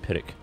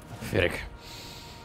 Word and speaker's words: Pyrrhic: Pronounce it? Pyrrhic. Pyrrhic.